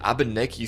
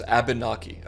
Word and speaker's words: Abnaki: Also, I hope I pronounced that right, dude. I I don't want to mispronounce a native like name. It's Abnaki.